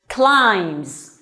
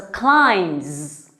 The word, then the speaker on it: climb: give it a try climbs remember B here is silent so we don't pronounce B the letter B you just say simply like this climb okay so climbs climbs the mountain good